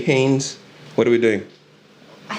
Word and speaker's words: Heynes: How do they say it? Heynes. Heinz. Heinz. Yeah. Heinous. It's not ketchup.